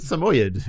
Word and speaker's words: Samoyed: Chris, the dog breed is called a Samoyed. That's it. Okay. There's no other way.